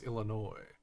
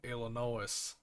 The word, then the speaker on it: Illinois: French so they don't they don't say the other s so it's Illinois that's everyone outside of it doesn't care we say Illinois let's foreign Colorado I